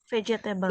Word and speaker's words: vegetable: fruit and vegetable vegetbles vegetable Vegeta Jadi bukan G dibacanya pakai j ya vegetable vegetable Ya next